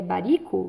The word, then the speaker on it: Baricco: um escritor italiano alessandro como pronuncia é baricco bari ficou muito bem